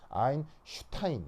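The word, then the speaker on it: Einstein: S가 독일어에서는 스 발음이 아니고 쉬 이런 발음이 나거든요. 그래서 아인슈타인 이렇게 이제 발음을 하는 거예요.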